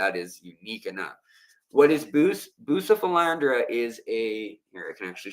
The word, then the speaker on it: Bucephalandra: So here is Bucephalandra, or it should be pronounced Bucephalandra is how it should